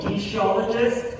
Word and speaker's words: kinesiologist: She is 27 years old, a kinesiologist and CEO of a non-profit organization.